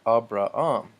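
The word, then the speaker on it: Ἀβραάμ: the name for Abraham I noticed there's no H sound in Greek other than at the beginning of a word with a vow if there's a rough breathing mark and so a bra um timotheus Timothy us as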